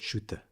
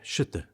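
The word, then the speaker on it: Schütte: by an artist named Thomas Sho wait shoter that's how it's let me just let me just see if I I'm saying it right sh yeah shut Thomas shut so she said you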